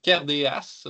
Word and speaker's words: Cairdeas: me compreniez, mais euh les D se prononce en CH là habituellement là en en écossais galéque là et c'est d'ailleurs pourquoi on dit le check aussi.